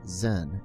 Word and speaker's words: Zen: land chin Thai haen and Chan pronounced Zen in Japanese we will discuss these